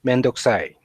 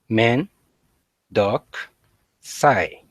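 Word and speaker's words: めんどくさい: So yeah, let's practice how to pronounce mendokusai. Men, M-E-N, men. Dock, D-O-C-K, dock. Sai, S-I-G-H, men, dock, sai.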